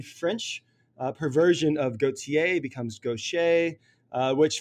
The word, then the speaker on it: Gauthier: and a Cajun French perversion of Gauthier becomes Gaucher, which phonetically is a bit of a nightmare, but it makes for an interesting opening exchange. So yes, Gaucher, G-A-U-T-H-I-E-R for our listeners.